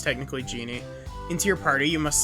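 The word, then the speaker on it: Djinn: After bringing a this is technically pronounced genie, but...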